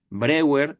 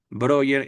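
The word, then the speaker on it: Breuer: Brewer es como se podría escribir en español. Broer es, digamos, como se pronuncia.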